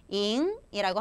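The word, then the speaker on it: 赢: 발음 어떻게 합니까? 잉이라고 합니다.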